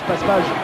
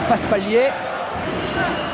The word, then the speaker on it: Paspalj: Paspalj, c'est vrai que l'on prononce Paspalj en France parce que c'est l'orthographe. En Grèce, il l'appelait Paspalier.